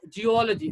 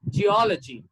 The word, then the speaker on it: geology: jacket village gentle ginger this is not your geology this is geology geology okay geology